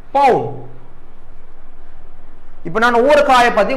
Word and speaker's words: pawn: அடுத்தது queen, bishop, night, rook, பவுன். இப்போ நான் ஒவ்வொரு காயை பற்றி உங்களுக்கு ரியலாக காட்ட போகிறேன் என்ன காயின்னு. முதலாவது இது பவுன், இது என்ன பேர் என்ன, பவுன், PAWN, பவுன்.